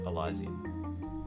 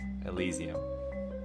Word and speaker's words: Elysium: I think that's how you say it, not Elysium. Yes, we have word at the... Yep, thank you. It's Elysium.